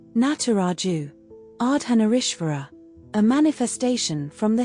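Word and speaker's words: Nataraja: Pronounced Nataraju.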